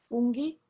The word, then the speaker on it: funghi: When you add an H, you have the hard G. Ge. Traghetto. Funghi, as an example.